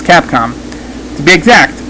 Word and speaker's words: Capcom: cap calm that's right just to say it right it's Capcom to be exact it's